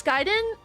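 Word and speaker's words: Gaiden: the 1994 game Darius G giden giden it's pronounced giden mallerie come on you know this uh it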